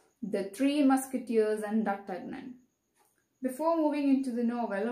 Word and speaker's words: D'Artagnan: the three musketeers and dr okay it's a french name so we must try to pronounce in that way the three musketeers and the tugmen before moving into the